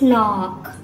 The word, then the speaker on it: knock: No, it's knock.